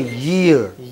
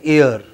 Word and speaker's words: year: Spread your lips. Don't you see the British have their lips going from ear to ear? Like this. Okay, now say it. Year. But many of us in India pronounce it as ear.